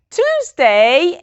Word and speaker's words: Tuesday: The 2 most difficult days to pronounce are Tuesday and Thursday.